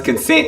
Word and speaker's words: CNCNT: Now it's consent, it's CNCNT. That's how you actually spell it.